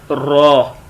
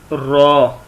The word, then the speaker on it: ر: وہ ہے را. کیا ہے؟ را. یہ کیا ہے؟ را. خا اور را کو تھوڑا موٹا پڑھتے ہیں.